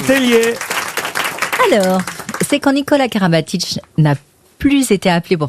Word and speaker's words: Karabatic: et carabatic ou kabatic donc on dit euh kabatic normalement si on le prononce vraiment c'est Karabatic mais ça tombe bien c'est